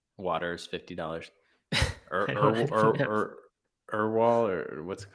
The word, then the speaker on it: Erewhon: Erwal or what's it called? Erewhon. What? I think it's Erewhon. Erewhon. Yeah, I'm pronouncing it correctly.